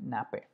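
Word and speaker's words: nappe: तो ये जो चीज़ है इसको हम बोलेंगे नैप पे, ठीक है। ये जो ऊपर वाला है ना, जैसे फ़ोन पे होता है ना, वैसे नैप पे ऐसे ऐसे प्रोनाउंस कर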